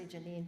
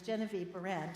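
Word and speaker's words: Genevieve Behrend: say it right I always want to say Janine but it's Genevie barent and also wrote your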